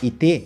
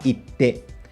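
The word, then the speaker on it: 行って: A transformação do iku, ele deixa um intervalo na pronúncia. Então, ao invés da gente falar ite, a gente fala ite.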